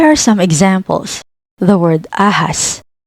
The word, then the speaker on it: ahas: The word ahas. The H is in the middle. Ahas. Ahas, meaning snake.